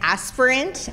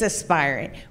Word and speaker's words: Aspirant: Aspirant all together because we typically get Aspirant, and probably globally that's how someone would pronounce it, but it is Aspirant.